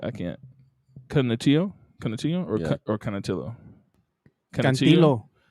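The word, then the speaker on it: Canutillo: You want to pronounce that? I can't. Canatillo or Canatillo? Cantillo.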